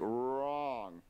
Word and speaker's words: wrong: Wrong starts with an R. That's why it makes the r noise, like wrong.